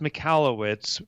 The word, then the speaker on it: Michalowicz: your last name yes so it's pronounced mallwitz but if you're an old high school friend of mine it's that was that was